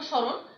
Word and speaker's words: স্মরণ: যেমন দেখো, স্মরণ, আদ্য বর্ণ দন্ত স, দন্ত স এর সঙ্গে ম যুক্ত আছে, তাহলে সেই মটা অনুচ্চারিত থাকে, উচ্চারণ হয় না সেই ময়ের।